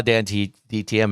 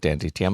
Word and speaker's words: DanTDM: recognize the other ones so yes i saw dante dtm if you said so but i didn't i didn't know who that was i don't know what dantdm looks like dan tdm sorry i keep saying